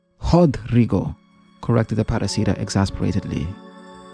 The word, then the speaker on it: Rodrigo: is Rodrigo. Hodrigo, corrected the paraca exasperatedly. It's pronounced Hodrigo.